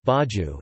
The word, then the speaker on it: bairro: A bairro Portuguese pronunciation, baju, is a Portuguese word for a quarter or a neighborhood or, sometimes, a district within a city or town.